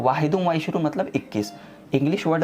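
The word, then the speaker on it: واحد وعشرون: उर्दू में इसका प्रोनाउंसिएशन होगा 21। ठीक है, लेकिन अरबी में इसको हम बोलेंगे वाहिदुम व इशरून।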